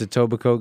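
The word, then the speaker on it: Etobicoke: toico aoboco really uh it's spelled e t o b i c o k e no that is a place you it's a tobac Coke you said it right I'm saying for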